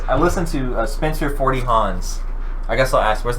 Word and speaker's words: Hans: The first words I listened to Spencer 40 Hans. I guess I'll ask, where's the name of that come from? So it's spelled right? Hans, but it's hands. It's just hands.